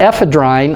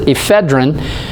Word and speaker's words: ephedrine: of people pronounce it ephedrine but if you remember your grammar if you have an e at the end of the word with a consonant in front of that and then a vowel you pronounce it f